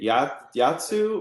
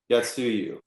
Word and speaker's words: Yatsuyu: Is it Yatsu or Yatsuyu? Yatsuyu. Yeah, Yatsuyu.